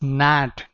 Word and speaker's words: gnat: word for you guys this is not gnat g is silent over here you have to speak it like nat nat is more like